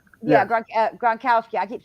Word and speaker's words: Gronkowski: um what is going on with uh rob grobowski yeah gronkowski i keep saying his name wrong i'm sorry um oh he's retiring is